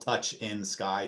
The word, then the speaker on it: Touchinsky: I always like to say I'm the only Touchsinky in the world, and it's spelled Touch in Sky, Touchinsky.